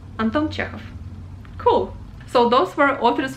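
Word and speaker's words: Антон Чехов: one well everybody knows anton chekhov quite easy anton chekhov very short anton chekhov cool so those were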